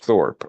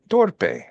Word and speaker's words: Thorpe: it was in English they'll see my name and they would pronounce it torpe and in Spanish unfortunately torpe means stupid so so uh they would